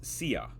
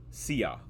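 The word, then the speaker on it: szia: how to say hi in Hungarian blueberry is Sia it's spelled s z i a Sia and it's saying it's how you would pronounce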